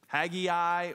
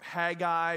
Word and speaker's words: Haggai: one weird name right haggy eye or haggai people say it very differently in the circle that I grew up in they called him haggai when I was a little kid that's how I always sort of haggy eye and then